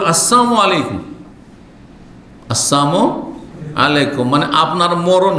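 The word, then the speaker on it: السلام عليكم: হয়ে যাবে সালামের লামকে সাইলেন্ট করা বুঝেন তো উচ্চারণ করলেন না আপনি তাহলে ওর মানে মরণ হয়ে গেল এজন্য আপনি আসসালামু আলাইকুম বলেন আর আসসালামু আলাইকুম বলেন সালাম আলাইকুম মানে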